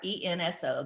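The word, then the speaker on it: ほうれん草: spell it? Horenso. Edwin, maybe you can say it. H-O what? H-O-R. Horenso.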